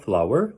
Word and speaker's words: flour: meat, flour, 여기는 꽃, flower하고 발음이 똑같아요. 밀가루, flour, 꽃 할 때도 flour, butter, cheese, whipping cream, bread, pear, mango, basket, chicken, pork, shrimp.